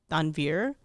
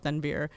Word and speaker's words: Tanvir: In Urdu, we pronounce the accent on different, we call it Tanvir. But everybody would be like Tanvir, okay?